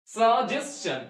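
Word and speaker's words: suggestion: তার জন্য চ এর পরে হসন্ত নয় হসন্ত সাজেশন তাহলে এখন থেকে আমরা কি সাজেশন সাজেশন প্রচুর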